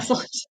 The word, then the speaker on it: Esselstyn: Did I pronounce that right? Esselstyn.